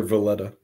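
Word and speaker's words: Voleta: yeah i don't know i call her velita so sorry we're gonna be we're gonna be in the audiobook calls her villetta okay well i'm going to call her volita because i don't care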